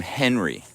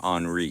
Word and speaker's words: Henri: been great tropic uh tropical storm henry i know sorry tropical storm henri this is how people pronounce it h-e-n-r-i that one produced one